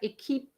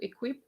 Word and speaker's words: équipe: And word like équipe as opposed to equip.